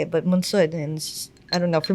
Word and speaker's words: Monsod: People ask, why don't you, you know, I say monsad because it's just easier for people to say it, but mansud and I don't know.